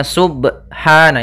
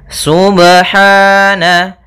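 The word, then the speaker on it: سُبْحَانَ: lafal huru ba sukun Apabila ada huruf ba dia harakatnya sukun maka ada hukum Qalqalah maka harus dipantulkan dalam membacanya hati-hati juga dalam pantulannya jangan sampai ada tambahan Hamzah atau di dalam bacaannya ada sakta misalnya Subhana ini sakta kalau dia tambah n Subhana harusnya dia sub ya Subhana Kemudian pada lafal ha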